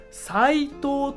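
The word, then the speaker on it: 斉藤: 这个人，斉藤、斉藤と読みます。斉藤と読みます。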